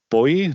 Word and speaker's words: Booij: Okay, next up we have Bart Booij. Did I pronounce that correctly? Booij, okay.